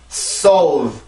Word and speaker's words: solve: 한국어로는 solve 이렇게 이음절로 쓰지만 영어로는 solve가 아니라 이 발음교를 써주게 돼요. 아까 전에 F 발음을 할 때 이 발음을 잠깐 본 적이 있었죠. 그래서 이 발음을 해줄 때는 아래턱이 많이 내려가고 입이 아래턱이 내려가니까 당연히 입이 열리겠죠. 그 상태에서 내가 볼을 이렇게 안쪽으로 넣어준다라는 느낌으로 발음을 해주시면 돼요.